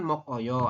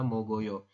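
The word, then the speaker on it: 먹어요: sesuai aturan baca teman-teman tulisannya kan mok Oyo Anda Bacanya adalah mogoyo geknya naik ke ieng sini ya terus seperti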